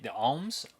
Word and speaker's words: Oms: they're working with the ohms. OMS is how they say it.